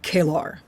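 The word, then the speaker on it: K'Ehleyr: The name is pronounced Kelar.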